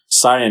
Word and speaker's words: Saiyan: Saiyan is the correct way to pronounce it. Yeah. Oh, is it really? Yeah. Oh, I didn't even know that. In the Japanese version, it's Saiyajin. Saiyajin.